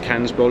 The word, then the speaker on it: Kansbol: knives you have, the new Eldris and the Kansbol, is that the right pronunciation?